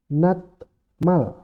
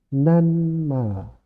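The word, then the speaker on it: 낱말: jadi n contohnya gini Nat Mal cara cara menulisnya adalah natmal cara membacanya menjadi nanmal bat Nenda tulisannya bat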